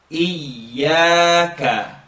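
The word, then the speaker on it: إياك: Now the sentence reads Iyaka. Try not to let the air escape and get like a zh sound. Iyaka. If you could practice on your own, say I-a-a. Iyaka.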